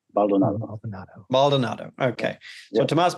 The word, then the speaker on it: Baldonado: How do you pronounce that? It's Baldonado. Baldonado.